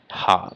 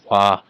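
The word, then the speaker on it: は: As you guys know, this is a hiragana ha, but if it is used as a particle, uh, as a topic particle, it is not pronounced ha, but it's pronounced wa.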